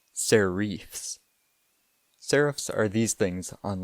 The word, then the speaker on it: serifs: The first word you should know is serifs, although if you're a true font snob, you should pronounce it serifs.